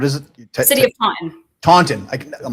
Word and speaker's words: Taunton: Taunton.